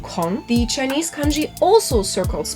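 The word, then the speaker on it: 空: looking at the original name again chinese and pronounced kong the chinese kanji also circles back to the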